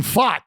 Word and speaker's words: Pfaadt: said no no no it's actually fought that's that's how you say it fat and J you